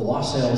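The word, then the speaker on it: wassail: uh the first noel the lost sale song or wassel song depending on how you like to pronounce it and angels we have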